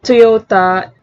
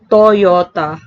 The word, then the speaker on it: Toyota: can be in english thus toyota is not pronounced as toyota as it is in english but toyota the y can also act as a glide